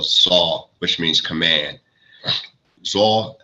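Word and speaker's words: Tzav: Zah, most people say Zav, so, they pronounce with the V at the end, Zah.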